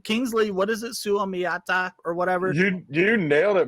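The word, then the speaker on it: Suamataia: Suamiata or whatever? You nailed it, my friend. Sumiata.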